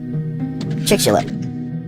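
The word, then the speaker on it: Chicxulub: c h i CX u l u b pronunciation CH chick chick shub the chick shelub crater is an impact crater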